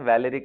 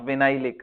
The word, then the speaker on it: valeric: Okay, चलो भाई, कोई बताएगा वैलेरिक एसिड किसको बोलते हैं। वैलेरिक acid, वैलेरिक, नॉट विनाइलिक, आई am asking वैलेरिक।